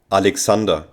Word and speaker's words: Alexander: to Alex and now let's hear how Germans pronounce Alexander Alexander and how do they pronounce Alex Alex Alexander